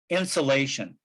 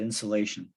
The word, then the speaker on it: insolation: So it's like insulation, except with an O instead of a U. So it's a technical term, insulation, but that's the sunlight energy that we get. We call it insulation.